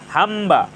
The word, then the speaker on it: হাম্বা: ফলার উচ্চারণ অবিকৃত রয়েছে হাম্বা এখানে ম এর সাথে ব ফলা যুক্ত হয়েছে ম এর সাথে ব ফলা যুক্ত হওয়ার কারণে ব ফলার উচ্চারণ অবিকৃত রয়েছে নীলম্বরী এখানে নীলাম্বরী এখানে